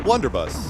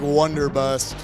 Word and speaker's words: Blunderbuss: It's the Blunderbuss. Okay. I was going to say it wrong again. It was like Wonderbust thing, whatever it's called.